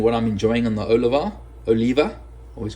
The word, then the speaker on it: Oliva: enough a South American friend whose last name is spelled the same way and he says it's not Oliva it's Oliva Oliva apparently is how we said how us